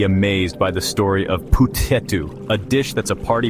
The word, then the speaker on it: Puthettu: just a dish it's a cultural icon petu pronounced petu is a steamed rice cake that's super popular